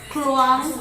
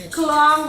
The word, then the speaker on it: Kluang: Then, here a special promo is called as Kluang Mooncake. Did I pronounce it correctly? Kluang Mooncake.